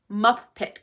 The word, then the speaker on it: MupPit: So, this is where Muppet comes in. It's Muppet like the Muppets. You know, a puppet Muppet, but it's spelled M U P I T.